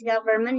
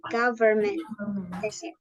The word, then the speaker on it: government: kayak gini kalau nulis government ya kayak gini Padahal dia govern kayak gitu cara bacanya pun juga ada n-nya government government alri Saya tidak akan